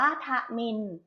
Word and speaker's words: ทมิฬ: คำ ว่า ทนิล ทนิล อ่าน ว่า พระ มิน พระ มิน ประกอบ ไป ด้วย ทรหาร